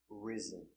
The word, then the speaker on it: risen: All words have S between two vowels. Pronunciation with a Z, zebra sound. Rise, in the past, rose. And the participle, risen. Pronunciation, risen.